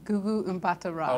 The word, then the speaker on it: Gugu Mbatha-Raw: And how do you pronounce her name? Gugu Mbatha-Raw.